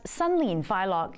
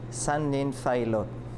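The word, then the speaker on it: 新年快樂: That's Sunlin Fai Lok in Cantonese, or Xin Nian Kuai Le in Mandarin.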